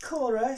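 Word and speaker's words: Caora: To help you get through this, please find enclosed, I'm going to pronounce it Cora, C-A-O-R-A.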